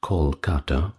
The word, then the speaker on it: Kolkata: thumbnail and title, but now rendered rather with a K instead of C, and pronounced Kolkata, I believe.